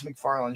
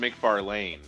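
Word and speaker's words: McFarlane: Trolls replays told me it's pronounced Mcfar Lane cuz he always parks in the bar lane.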